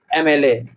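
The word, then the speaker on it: MLA: देखिए एमएलए का जब हम प्रोनाउंसिएशन करते हैं तो वोवेल साउंड निकलती है, तो यहाँ पर जो है एन आएगा, क्या आएगा, ही इज एन एमएलए।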